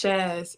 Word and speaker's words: Shaz: Josh. How are you? I'm doing good. It's pronounced. It's Shaz.